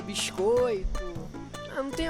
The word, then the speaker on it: biscoito: They pronounce the S more? Okay, interesting. sotaque carioca puxa pro S, né? Hold on. Sotaque carioca. O biscoito. Biscoito. So they strongly stress the S sound, I guess.